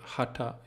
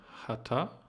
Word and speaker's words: Haṭha: c'est h ta et il faut prononcer le TA en partant avec le bout de la langue tourner sur le haut